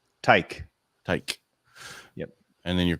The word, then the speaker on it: Teich: show how do you say your last name tyke tyke yep and then your call sign is